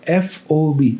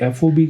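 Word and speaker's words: FOB: उसके बाद एफ ओबी आपको प्रोनाउंस भी एफओबी करना है।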